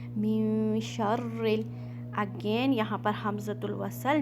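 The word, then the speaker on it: مِن شَرِّ: मिन शर्रिल, अगेन यहाँ पर हमज़तुल वसल, जैसा कि मैंने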